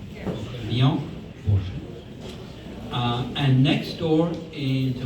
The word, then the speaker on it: Vian Borchardt: We are looking at paintings by Vian Borchardt, correctly pronounced? Vian Borchardt.